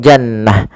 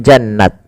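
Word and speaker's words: جنة: diwakafkan, dia rubah atau dirubah menjadi huruf ha sukun, maka menjadi jannah, bukan jannat, tapi jannah.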